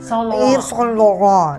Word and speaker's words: Yves Saint Laurent: Tama yung pronunciation. Yves Saint Laurent.